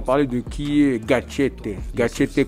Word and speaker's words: Gatchete: Gatchete que l'on prononce avec l'accent du Sud. Comme tu dis, c'est important.